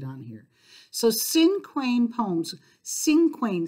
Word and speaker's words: cinquain: here so cinquain poems cinquain sounds like single right Cinco in Spanish is